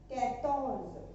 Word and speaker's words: quatorze: 14 quatorze. 14 quatorze. Focus on pronunciation is very must.